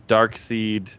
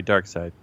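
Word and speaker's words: Darkseid: Justice League like versus dark seed you know in Infinity Wars sorry Dark Side well they spell it weird seid doesn't make sense yeah he he's dark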